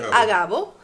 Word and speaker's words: Agabo: levantándose un profeta llamado Ágabo o Agabo, no sé cómo se pronunciará. No tiene acento en nada, así que es Ok, Agabo, un profeta llamado Agabo,